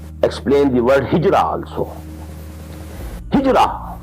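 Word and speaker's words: هجرة: the word hijra also hijra which we in udu pronounce hijat this is the negative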